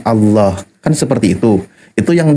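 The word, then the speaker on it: الله: Nah, ketika lafaz Allah lafdul jalal dibacanya tafhim maka ditebalkan Allah.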